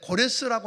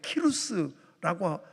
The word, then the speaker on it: 키루스: 물론 이제 고레스라고 하는 이름이 거기서는 우리 역사책에는 보면 키루스라고 하는 이름으로 발음이 좀 다릅니다만, 그 키루스 왕이 페르시아 제국을 통해서 세계를 제패하고는 BC 538년에 칙령을 내립니다.